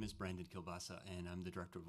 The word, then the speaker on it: Kielbasa: Kielbasa is how it's pronounced, but thanks. Literally Kielbasa? Literally Kielbasa. I could have gotten that. Just sorry. Thanks, though. So my name is Brandon Kielbasa, and I'm the director